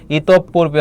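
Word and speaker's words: ইতঃপূর্বে: উচ্চারণের ক্ষেত্রে তাহলে এখানে কি হবে বলতো ইতপ পূর্বে হবে ইতপ এইযে বিসর্গের পরে প আছে প দুইবার হবে ইতপ তবে কি হবে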